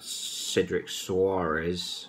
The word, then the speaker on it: Cedric Soares: Now, I know what I said yesterday about Cedric Soares.